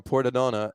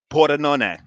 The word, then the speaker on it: Pordenone: It's La Beer Samurai because he's coming to us right now from Pordenone, Italy. From here, I'm going to throw this up right now. Pordenone.